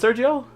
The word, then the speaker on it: Sergio: Now, I did see on one of your songs, your full name is Sergio?